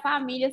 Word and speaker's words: família: É um som de lhá, porém é LIA, não é com H. E muita gente acaba confundindo e achando que a família se escreve com LH.